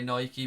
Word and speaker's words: Nike: I'm gonna have to train myself to say no a key because that is apparently the correct way to say Casper said the worst